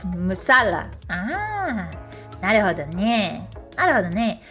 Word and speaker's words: masala: You emphasize the second syllable. Oh, tikka masala. Ah, musala. Ah, I see. It's not masala. It's musala.